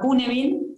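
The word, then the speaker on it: Cynefin: Algo que a mí me gusta compartir es un framework que es un marco de trabajo que se llama Cunefin, se escribe Cinefin, y ahí sí podés mostrar el dibujo.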